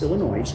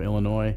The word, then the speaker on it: Illinois: right I'm sorry but anyone that pronounces the S on the end of Illinois shouldn't be making six figures this case involved a